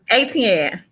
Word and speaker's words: Etienne: The So way I used to do it is like ET for home, and then the name Ann. ETN or ATN.